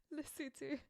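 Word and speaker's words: Lesotho: me yes what is lofo what's that again pronounce it correctly for me please lutu yeah lutu that's what I said so lutu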